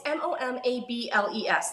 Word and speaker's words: Momables: Oh, it's MOMABLES, like Mom Ables.